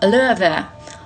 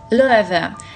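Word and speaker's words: Loewe: Произносится Löwe. Löwe.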